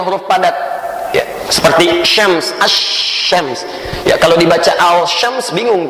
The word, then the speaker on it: asy-syams: Maksud alif lam syamsiyah qamariyah itu maksudnya bacalah al, alif lam, al, syamsiyah seperti dalam kalimat asy-syams.